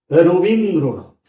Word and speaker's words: রবীন্দ্রনাথ: একটা উদাহরণ এই যে শব্দটি রবীন্দ্রনাথ লিখলাম এই শব্দটি তো উচ্চারণে আমরা কি করি রবীন্দ্রনাথ উচ্চারণ এভাবে করি রবীন্দ্র নাথ কেমন তাহলে দেখুন আইপিটা কেমন হবে। খেয়াল করে দেখি র ছিল ও হয়েছে। আবার এখানে রবীন্দ্র অ উচ্চারণ হয়েছিল। এখানে বানানে অ ছিল। এখানে উচ্চারণ ও হয়েছে।